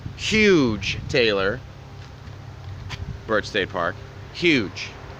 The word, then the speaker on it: Hugh: Taylor birch State Park huge that's how you pronounce H ugh huge that's the Atlantic and